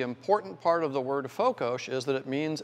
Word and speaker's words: fokos: it's called afokosh f-o-k-o-s s is pronounced like sugar in hungarian if you want it